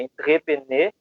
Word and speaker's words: entrepreneur: O empreendedorismo tem a origem de uma palavra francesa, e até anotei aqui para não falar errado, mas vou falar que é entrepreneur, seria a pronúncia, né?